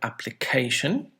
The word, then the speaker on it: application: bhuvah bomb in german application this has how many syllables application four syllables and where is the word stress on the third one logical right hmm so